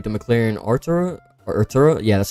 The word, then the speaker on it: Artura: I'm not a huge fan of this car, like the McLaren Artura or Art Turo. Yeah, that's how you pronounce it.